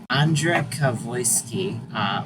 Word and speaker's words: Andrzej Gawroński: I always forget how to look up to pronounce things. Right. Andrzej Gawroński. Okay, Andrzej Kavoyski voiced the professor.